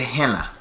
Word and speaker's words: Gehenna: it looks like that but it's pronounced get gehenna it's two e's there for a reason yes